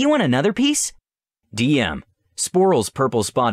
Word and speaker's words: Sporill: Sporill: Sporill – (pronounced Spore-ull) Selana: Hi there.